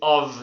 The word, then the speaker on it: of: The pronunciation is of, not off. Não é off. No, because off is double F.